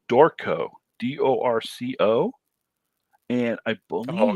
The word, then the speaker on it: Dorco: or anybody else yeah it's d-o-r-c-o dorco and i believe it's pronounced torco but they have this